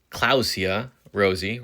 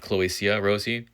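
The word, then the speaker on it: Clowesia rosea: What I've recently learned is pronounced as Clausia rosea, not Cloisia rosea.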